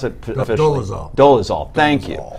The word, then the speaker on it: Dolezal: In a statement today, Rachel Dolezal, how do we pronounce it officially? Dolezal, thank you.